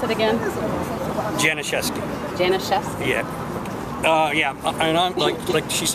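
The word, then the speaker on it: Janiszewski: Can you pronounce it again? Janashes.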